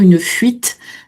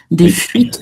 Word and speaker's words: fuites: Les fuites, alors les fuites, bien accentuées en revanche, hein, la prononciation du T final, il y a un E derrière, une fuite, des fuites d'eau.